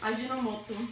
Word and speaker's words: Ajinomoto: How do you pronounce it? Ajinomoto.